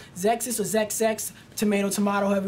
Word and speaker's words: Xexex: pronounce the name exis the proper way to pronounce this car's name is zexus zexus or ZX tomato tomato however you want to